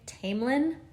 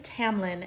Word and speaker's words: Tamlin: video to apologize for saying tamelin about four times during this review of the book his name is Tamlin and I know that I don't know why I mispronounced it now in this book there are a lot of really unique names and I think I when I first started reading it I pronounced it as Taylin and I had to look it up to figure out how to pronounce it and I had to